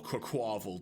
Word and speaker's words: Quaquaval: I think it's because it's Quack and Carnival. Yeah. So it's like Quaquaval. Yeah. Quaquaval. Or Quaquaval, depending how you want to say it. Or Cacaval.